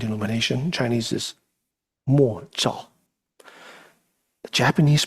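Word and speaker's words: 默照: So when it was first introduced to this practice, the traditional Japanese word for this, silent illumination, Chinese is mo zhao. The Japanese pronunciation is mokusho zen.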